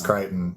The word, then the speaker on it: Crichton: We have John Crichton? I don't know how to pronounce that. It's Crichton.